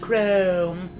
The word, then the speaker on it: Crump: all my idea said mrs. Crump pronounced chrome at first my family